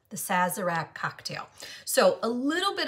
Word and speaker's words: Sazerac: i read it the name is called the saz iraq the sazerac cocktail so a little bit of history about